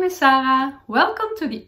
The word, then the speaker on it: Sarah: from the Netherlands and you pronounce my name in Dutch as Sarah and not as Sarah but my Instagram name